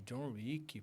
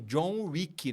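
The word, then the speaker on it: John Wick: Que tem o John Rick, né? Que é W-I-C-K. O meu é R-I-C-K. Só que da mesma pronúncia, né?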